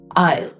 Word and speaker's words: aisle: I ale he walked his daughter down the aisle he walked his daughter down the aisle so that is how you pronounce aisle next word especially if I talk about Indians